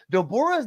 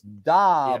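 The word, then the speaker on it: Dabura: the pun on DOR Dora's name is not dor that's English dub pronunciation it's daura d abura da budha so it's Japanese uh real quick um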